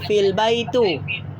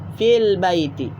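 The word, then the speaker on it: في البيت: kita masuk file saiti kita tidak lagi membacanya sebagai file bayi itu kini ini kaidah-kaidah bila kita sebut albaitu Bila masuk V maka menjadi file Baiti Oke dia menjadi file-file B I make jadi albaitu fil Baiti Oke bila ada Vi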